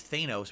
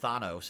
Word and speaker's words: Thanos: Back then I thought his name was Thanos. Apparently it's pronounced Thanos, and now we all know that, but I didn't know that back then.